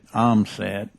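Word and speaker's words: Ohmsett: materials simulated environmental test tank uh pronounced asset omset as the official uh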